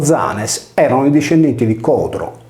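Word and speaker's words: Ἴανες: Pausania narra che gli Ioni, abitanti di Atene, riportati in greco antico con Ianes, pronunciato Zanes, erano i discendenti di Codro, ultimo re di Atene, ucciso forse dagli Achei.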